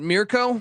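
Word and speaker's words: Mirco: Is that how I pronounce that? Mirko?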